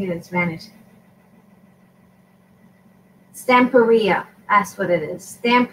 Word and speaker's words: Stamperia: it stamp baby at something like that I'm pronouncing units manage stamp area that's what it is stamp Korea instead of stamp period so you know to eat your own however